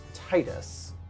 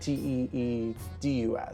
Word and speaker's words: Tidus: base would pronounce it Titus, Tidus. But apparently, according to Square Enix, like the game developer, it's pronounced Tidus, like Teedus, and there was a revolt over that.